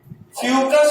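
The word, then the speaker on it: Fucus: चलो आगे, oogamous का एग्जांपल है वॉलबॉक्स और फ्यूकस। याद करो हम आपको बताए थे फ्यूकस और फाइकस जब मॉर्फोलॉजी पढ़ रहे थे।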